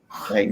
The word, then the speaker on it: Triton: Triton?